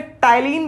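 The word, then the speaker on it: ptyalin: इसको हम लोग प्यार से टाइलिन भी कहते हैं। याद रखिएगा, स्पेलिंग पी से स्टार्ट होता है, बच्चे कंफ्यूज ना हो जाएं।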